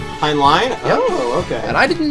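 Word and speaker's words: Heinlein: by the way I always thought it was hland too it's pronounced hind line hind line oh okay and I didn't know that it's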